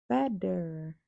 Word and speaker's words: better: Si quieres decir mejor, no dirías better. Dirías better. Better.